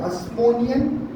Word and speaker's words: Hasmonean: इस पीरियड को बोलते हैं हस्मोनियन पीरियड। क्या बोलते हैं? अब देखो नाम बहुत सारे हैं, स्पेलिंग बताऊंगा।